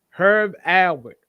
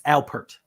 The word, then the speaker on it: Alpert: great hip hop artists, Please say his name right. my number 5, Okay. Herb Albert, Rise. No. I knew he was gonna do that. It's Alpert. Alpert.